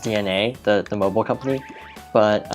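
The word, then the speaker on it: DeNA: I think it's it's cuz it's spelled D E N A so I I'm based on what are capitalized I assume as pronounced DNA the the mobile company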